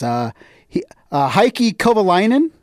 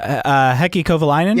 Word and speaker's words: Heikki Kovalainen: Heikki Kovalainen. Oh, Heikki Kovalainen?